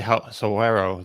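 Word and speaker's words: Saguaro: I learned how to say Soero this week. What is it? Soero, I think, or maybe I'm Suero?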